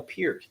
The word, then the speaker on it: Peart: Not Neil Peart. It's Neil Peart.